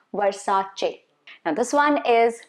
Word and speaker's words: Versace: about a few brand names which we often pronounce wrongly this one is a very popular luxury brand versace versace okay not versailles versace now this one is chanel not channel there